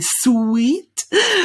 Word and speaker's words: suite: no oh and eat there we don't say sweet we say swiss were sweet perfect well done